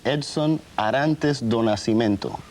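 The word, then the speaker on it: Edson Arantes do Nascimento: become difficult let me see if i can pronounce this right your name is edson arantes donasimento perfect now where does the name pele come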